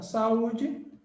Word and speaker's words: saúde: Mas, ó, quando você fala saúde, bonitinha, você tem aqui a união de dois sons vocálicos, só que você fala ela em sílabas diferentes. Nelsinho, como é que a gente faz? É claro, sa-u. A gente fala as duas sílabas.